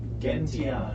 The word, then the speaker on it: Gentiana: Gentiana. Gentiana. It's a hard G. It's a hard G. The hardest of Gentiana. the hardest of G's.